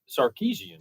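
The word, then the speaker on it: Sarkisian: How you pronounce his name? Which game? Texas game. Texas coach. Yeah. Uh, Sarkeesian.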